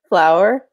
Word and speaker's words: flour: And yes, we pronounce it the same as the plant. Flower and flower.